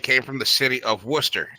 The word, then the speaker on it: Worcester: from is it came from the city of Worcester it's spelled warchester but it's pronounced Worcester so it's just Worcester Shire or Shearer sauce